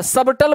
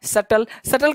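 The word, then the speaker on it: subtle: ना प्लमर है न सबटल बोलते लोग सबटल ही बोलना है सटल का मतलब दूर थी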